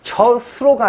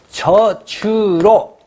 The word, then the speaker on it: 젖으로: 저수로가 아니고 저주로. 그쵸? 저주로.